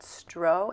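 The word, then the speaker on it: strå: stro St R A with a little circle over it I think you pronounce that stro and I think it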